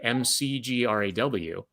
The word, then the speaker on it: McGraw: how it's written right m c g r a w you know the the the pronunciation mcgraw is not something that's kind of intuitive in terms of in terms of spelling so uh you know